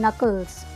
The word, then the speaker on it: knuckles: क्या बोलते हैं इसे हम, नकल्स, क्योंकि के तो साइलेंट है तो नकल्स।